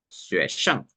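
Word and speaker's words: 学生: acá, que significa alumno, en el chino se pronuncia xue, bueno, disculpe, xue shang, en cuarto tono.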